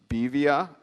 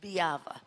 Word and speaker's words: Biava: So we have Bevia, or Bevia, Drew Raynor, and William Kuzman. My apologies if we are mispronouncing your names. Yes, it's Biava, but you were very close.